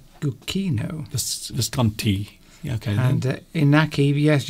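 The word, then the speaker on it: Luchino: Lucchino, not Lucchino. Oh, did I? Okay, Saturino then. Said it's the CH is pronounced like a K. Lucchino. Lucchino.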